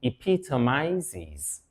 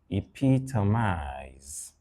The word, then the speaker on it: epitomize: Other synonyms include epitomizes. Epitomises. This word is pronounced epitomize. So we have a pto mise not epitomize just like this alone